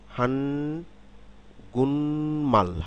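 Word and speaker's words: 한국말: শব্দ হান গুক মাল কিন্তু শব্দটি যখন আমরা উচ্চারণ করব তখন খেয়াল করুন হান হান গুনমাল হানগুন মাল হান গুন হান গুনমাল খেয়াল করুন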